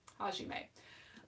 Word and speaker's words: Hajime: and ha he hajime i know how to pronounce his name hajime um and i don't honestly ship a lot